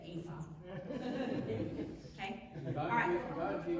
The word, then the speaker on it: ephah: So I looked it up and it's Epha. E-P-A-H. I didn't know how to say it right last time. It's Epha.